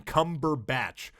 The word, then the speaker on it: Cumberbatch: It's like, just say his name. His name's not hard to spell. It's Benedict, which is Benedict, and then Cumberbatch. You can literally, you can say it out loud and then spell it. It's batch.